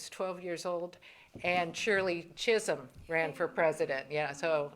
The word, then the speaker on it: Chisholm: And the boy who sat next to me said, "Who's this Kissam who's running for president?" I said, "It's pronounced Chisholm."